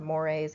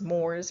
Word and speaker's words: mores: because I I know this word looks like it should be pronounced as Moors possibly um but mores and folkways mores being